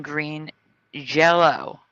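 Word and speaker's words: Green Jellÿ: But the band has always been Green Jello, because Y is pronounced an O.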